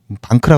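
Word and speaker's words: Bank: 주요 고객사가 C 그룹이나 BMP 파리바 뭐 소시에트 제네럴 뭐 독일 데카크 같은 방크라 그러는데 뱅크인데 독일식 발음입니다.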